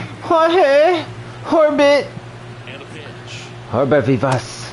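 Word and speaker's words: Jorbit: Yorbit? The J is silent. Jorge! Orbit!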